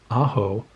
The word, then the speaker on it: Aho: put out in its sebastian aho as he prefers his name to be pronounced and i do not have that and ajo looks amazed by the